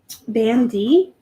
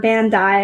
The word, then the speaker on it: Bandai: Okay, so I got a big, huge Nemo, and he is Bandy. Whoops, sorry. Or Bandai, I guess is how you say it.